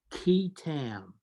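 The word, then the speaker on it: qui tam: the false claims act there's something called a key tam lawsuit have you ever heard of this no most people have not it's spelled q-u-i-t-a-m actually goes back to english common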